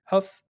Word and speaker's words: HUF: Yeah, HUF Huff.